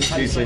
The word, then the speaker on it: Reisling: Reisling is how you say it. Yeah. Reisling, and like the Reisling, right? Like the German wine.